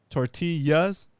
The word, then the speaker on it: tortilla: has a double l that l is pronounced like a like a like a y sound in english like a yeah so you have tortillas and in this case